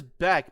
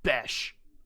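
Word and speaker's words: Bech: That is Beck, but I don't even know who he is. He might be a rookie. Jack Beck, Raiders. Oh, it's pronounced Besh.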